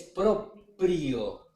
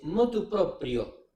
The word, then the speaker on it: motu proprio: Es propio. Proprio, como en italiano hoy en día, propio el tipo que dice yo mismo. Proprio es proprio. Lo hice motu proprio.